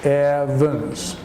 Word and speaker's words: Evans: Now the name Evans is pronounced Evans.